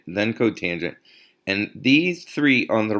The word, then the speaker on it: cotangent: one is co t you do not say kotor cot you say cotangent because it's the cotangent okay just so you